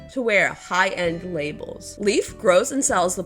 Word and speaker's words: Label: Label rhymes with able, and beyond that, a label is something sewn into clothing to show the designer of that article.